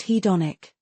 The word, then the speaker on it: hedonic: It's pronounced hedonic. Thank you. Hedonic. Got it. Excellent emphasis on the second syllable.